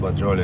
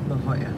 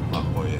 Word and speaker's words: La Jolla: It's a corner of La Jolie and 6th. It's pronounced La Jolla. La Jolla.